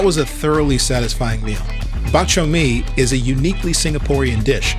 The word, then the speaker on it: bak chor mee: So can you pronounce it for me? Bak chor mee.